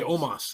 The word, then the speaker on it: Omos: It's spelled like Amos, but when they don't say Amos. When AJ Styles says it, they say Omos.